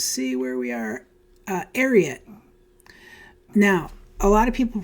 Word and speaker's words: Ariat: where we are uh arot now a lot of people pronounce these different ways uh I learned from watching a YouTube video recently that they're actually named after Secretariat so arot is how you pronounce